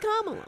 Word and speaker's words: Kamala: Pronounced Kamala.